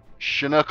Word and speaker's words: Chinook: Is it's actually Chinook like that. That is what Chinook. That's how you spell it.